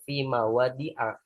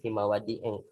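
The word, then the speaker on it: مواضع: Ketika dia dimasuki fi, maka dia dibacanya fi mawadi a, bukan fi mawadi eng.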